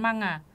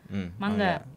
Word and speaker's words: manga: juga ini mangga juga mangga kan ini membacanya melafal bukan manga mangga Betul kan mangga itu